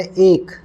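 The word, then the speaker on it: ache: और अब नेक्स्ट जो वर्ड है वो है एक। उच्चारण जो है उसका वो एक है।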